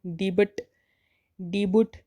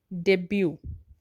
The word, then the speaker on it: debut: DEBUT इसको हम डिबुट कहते हैं, लेकिन वो सही प्रोनाउंसिएशन नहीं है। इसे हम कहते हैं डेब्यू।